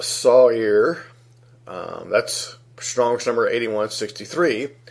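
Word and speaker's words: sa'ir: word site here which is sa I are pronounced Sawyer that's strongest number 81 63 a he or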